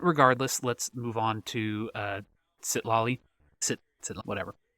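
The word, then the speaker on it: Citlali: But regardless, let's move on to Sitlali. Whatever. Sitali. Yeah, there's an extra L in there. I kind of was, I was skipping over a little bit, I guess, in my pronunciation.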